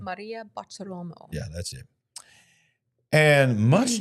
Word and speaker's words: Maria Bartiromo: Kash Patel and Dan Bongino were together interviewed by, what's her name, Marta Rolamo? How do you say her name? Maria Bartiromo.